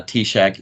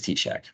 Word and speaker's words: TSAHC: seen it before uh tack is pronounced even though it's tsahc it is tack so with that so